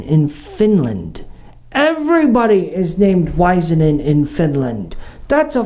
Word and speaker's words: Waisanen: wanna take a guess it's finish so there's a clue it's it's pronounced wiesen in let me tell you